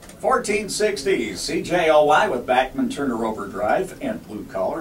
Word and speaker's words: Bachman: I thought it was Bachman, but yeah. He said Backman was the way the family pronounced it, but he said, tell